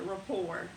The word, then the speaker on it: rapport: It's sp It has a T on the end, but you don't pronounce it. Rapport.